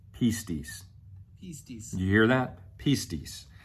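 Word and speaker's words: πίστις: In fact, I'm going to let the software tell you how to pronounce it. Pistis. Pistis.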